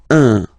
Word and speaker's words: un: without any doubt, but you've got to pronounce it like un. So it's what we call the nasal, so it goes in your nose, okay? So if you listen to me, you don't hear any N, okay?